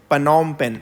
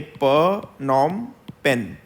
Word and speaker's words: Phnom Penh: is the capital of Cambodia so this is pronounced as pranam pen okay per Norm pen so this is how it is pronounced it